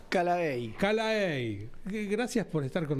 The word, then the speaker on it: Callaey: una vez más, ¿tu apellido cómo se pronuncia? Calaey.